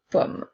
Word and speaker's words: pomme: avons une pomme à encore une fois les e à la fin des mots ne seront pas prononcés pour faire une pomme mais bien une pomme alors nous avons le